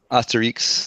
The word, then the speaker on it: Asterix: Asterix. That's how you say it. It's from France.